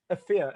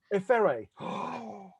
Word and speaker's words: Efere: to be interviewing Efere. Am I pronouncing that correctly? Absolutely not. Efere. Efere. I did it again because you corrected me the other day. So, Efere. Efere. Yeah, yeah. Is that better?